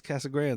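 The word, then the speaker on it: Casa Grande: It's just it's Casa Grand.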